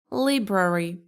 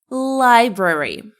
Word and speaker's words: library: Liberary. Now it's library. Library.